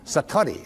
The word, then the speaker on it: Satori: but it's called Satori I'd love to say that Satori SAT Ori and it means instant awakening the idea that you